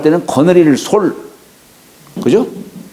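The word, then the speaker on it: 率: 거느린다 할 때는 거느릴 솔 그죠 예 원수를 말할 때는 수라고 읽지만 거느린다 할 때는 설이라고 읽어요 솔 음 그 여기는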